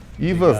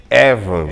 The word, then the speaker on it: Evans: Ivans não, Evans. Evans. Essa é a pronúncia correta, Evans.